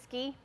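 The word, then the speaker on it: SKE: yeah station keeping equipment so ski is what we call it it's spelled with the E yeah oh yeah thank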